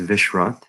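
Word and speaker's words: Vishrath: i go by usually my full name is vishwat v-i-s-h-r-a-t-h is what i usually uh what i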